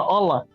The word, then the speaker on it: hola: the age it's just hola amigo H amigo oh hola yeah is without the age I mean they don't pronounce the h anyway so you know what's